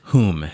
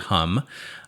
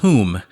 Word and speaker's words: Hum: what i mean visit whom it's spelled hum so you might pronounce it hum uh it is whom croatia it is the